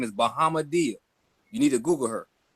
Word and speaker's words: Bahamadia: Her name is Bahamadia.